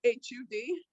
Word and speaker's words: Hud: So Hood, H-U-D. You pronounce it Hood? Yeah, HUD, H-U-D, 1D.